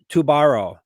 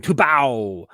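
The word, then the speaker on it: Tubarão: Tubara. Am I saying it wrong? It's a shark. Tubao. Oh, that's right. It's Brazilian. Tubao. They have a weird relationship with R's in Brazil.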